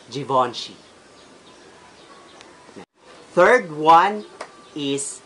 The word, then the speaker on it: Givenchy: little guys I Porsche second is Givenchy and we should pronounce it Givenchy third one is not